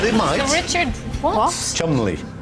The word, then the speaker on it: Cholmondeley: Sir Richard Cholmondeley, Sir Despard Murgatroyd, Sir Joseph Porter, Sir Bailey Barr.